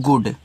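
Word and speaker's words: good: तो जी से गा यहां पर डबल ओ से छोटा उ बड़ा ऊ का मात्रा दोनों बनता है। इस बात को आपको याद रखना है। तो यहां पे छोटा उ डी से आपका ए हो जाएगा आपका गुड और गुड का मतलब होता है अच्छा।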